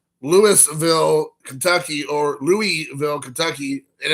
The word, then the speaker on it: Louisville: when people say that the biggest city in Kentucky, and everybody says, oh, you're talking about Louisville?